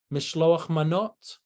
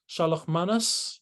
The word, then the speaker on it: mishloach manot: Or for Purim, you know, there's a mitzvah on Purim of giving gifts of food, mishloach manot, shalach manas, in the Yiddish pronunciation, you know about mishloach manot.